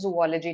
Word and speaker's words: zoology: biology okay how about zoology so this is pronounced as zoology not zoology what is zoology mean absolutely the